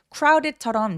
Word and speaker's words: crowded: Crowded처럼 C하고 R하고 같이 했을 때 크라우가 아니라 C 발음할 때부터 이미 R 발음하는 것처럼 입술을 내밀어요.